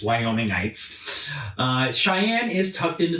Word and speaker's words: Wyomingites: that is the correct way to say it's wyomingites uh Cheyenne is tucked into the southeast corner